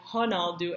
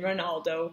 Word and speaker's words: Ronaldo: And though they do their best with the Portuguese pronunciation like Ronaldo and not saying it Ronaldo with the R sound, most of the actors